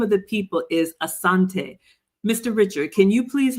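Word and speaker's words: Asante: the people of Asanti we don't say Ashanti we say asan I'm so glad you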